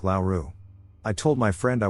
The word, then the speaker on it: Laura: When I say Laura, I pronounce it as Laura. However, when I spoke to her, I pronounced it Lowww, similar to the last name Lowry, which sounds like Lauru.